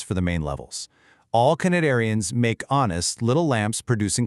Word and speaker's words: Cnidaria: The phylum, Cnidaria, starts with a silent C, just like the sea where it lives.